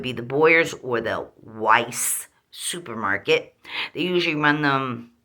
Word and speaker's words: Weis: they us them and wises Weiss Supermarket people around here say wise but it's pronounced Weiss supermarkets um they get